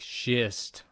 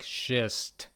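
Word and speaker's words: шесть: Sounds similar to the first part of the phrase. She's to come at 6. Let's just imagine the situation. She's to come at six. Like shist, right? Sounds like shist.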